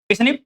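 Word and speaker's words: SNP: ऐसा एक पर्सन में, ऐसा दूसरे पर्सन में, इसे बोलते हैं स्निप। क्या बोलते हैं इसको, स्निप। और प्रोनाउंसिस कैसे करते हैं, स्निप्स करते हैं, अकर्स इन ह्यूमन।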